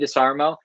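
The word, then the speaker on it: Desharmo: I really like, do you guys watch Wade DeSarmo or Wade DeSarmo? I always say it like SH. Wade DeSarmo.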